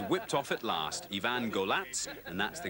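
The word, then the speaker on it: Golac: dust sheet was whipped off at last ivan golatz and that's the correct pronunciation was revealed as a man of quiet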